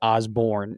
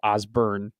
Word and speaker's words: Osburn: I accidentally slipped up and said Osborne instead of Osburn earlier, but I've said Tony's name so many different times. See, in this state, I don't care if it's pronounced Osborne. It is always Osburn to me.